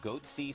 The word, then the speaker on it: Goatse: getting the goatse picture they're called goatse security is that my pronouncing that correctly yeah that's right we're analyzing coverage from